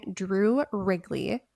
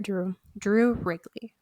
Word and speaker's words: Wrigley: US attorney Drew Wrigley, remember his name, he's going to come up later. Drew Wrigley, like the gum.